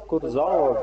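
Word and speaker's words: Kurzawa: Ну вот Курзава, ну Или Курзава. или Курзава, ну да, он француз, у него ударение будет на последнем слове.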